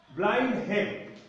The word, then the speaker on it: Blenheim: After Blenheim is a place. Blenheim is a place. It is in Germany. In German language, it is spelled as Blenheim. Blindheim. Blenheim. In English, it is Blenheim.